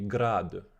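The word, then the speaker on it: градъ: the form grad or if i would use the correct pronunciation it would be grad right with the year at the end so because they saw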